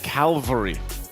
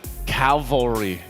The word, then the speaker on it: cavalry: I just was surprised because I've always said Calvary instead of cavalry. Oh, so you mixed up the L and the...